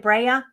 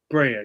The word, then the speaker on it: Brea: Bria Bri is that how you say it Brea Brea yeah Brea bre yes I went to and